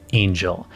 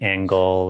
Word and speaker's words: Angell: here you go so is your last name pronounced Angel is that right yep you nailed it it's okay make sure it wasn't like angle or you know some unusual pronunciation or something it's all good I've had had uh I've had people go an hell and I'm staring going